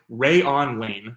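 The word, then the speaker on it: Rayuan Lane: The next guy that we're going to talk about, 6th-round pick again, Rayon Lane. That's definitely the pronunciation.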